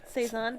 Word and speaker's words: Saison: I think it rhymes with Faison. Saison? Saison.